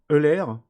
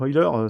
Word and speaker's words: Euler: Donc Euler Filter, donc Euler ça se prononce presque comme du pétrole, donc Euler Filter, donc on le sélectionne cet outil et on clique sur OK.